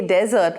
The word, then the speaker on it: desert: And when you say desert, which has a single S by the way, the emphasis is on desert.